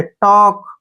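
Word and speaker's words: talk: को नहीं पढ़ना है टी ए से बना ट ठीक है और के से बना के टॉक क्या पढ़ेंगे इसको टॉक टॉक का मतलब होता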